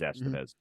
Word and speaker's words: Estevez: Estevez or I know I always put the emphasis on the wrong syllable I want to say Estevez because I think it's just kind of a cooler name but it is Estevez um maybe you add